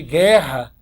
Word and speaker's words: guerra: Cuidado também com, ó, o GU de guerra, porque o GU de guerra, aqui, esse U, ó, não é pronunciado aqui, ó, não é. Isso aqui também é dígrafo também porque você não pronuncia esse U.